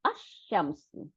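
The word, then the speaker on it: الشمس: এখন দি সান যদি করি, আল শামসু, তখন দেখেন দেখেন আল, এই যে আল, লামটা গিয়ে শিনটাকে দুইটা করে দিচ্ছে, তাহলে আশ-শামসু। আমরা এই শুধু এই অক্ষরটা মনে রাখলেও আমরা বুঝতে পারবো যে আশ-শামসু, তার মানে শামসি ওয়ার্ডটা ডবল হয়ে গেছে, সাদ্দা নিয়ে নিয়েছে, ডবল মানে সাদ্দা।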